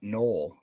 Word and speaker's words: Noel: It's Noel, like Noel Williams.